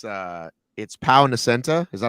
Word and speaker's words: Pau: Yeah, it's Pau, like Pau Gasol. Anyway, so I asked everyone, including Angel, the guy who runs HYROX, Deca Spain, and they all gave me the same answer, and including Pau, who said, when I